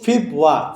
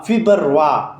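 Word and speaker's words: Februar: فیبوا میں ہم جس طرح انگلش کا سپیلنگ ہے اسی طرح ہے, صرف لاسٹ پہ وائی نہیں ہے. تو فیبوا, فیبروا یا فیبرور نہیں پڑھنے.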